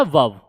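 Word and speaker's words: verb: इसको इसमें जो होता है ना आर साइलेंट रहता है। तो इसको पढ़ना होता है वर्ब।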